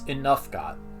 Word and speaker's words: Inuffgot: "The accent," announced Inuffgot, "is on the second syllable." "What?" "It's Inuffgot."